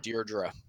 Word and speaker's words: Deirdre: up yeah that's supposed to be the correct pronunciation for that region is Dierdre hello we were talking with the oh you